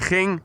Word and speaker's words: ging: Hij ging, G-I-N-G. Try pronouncing that if you're not Dutch.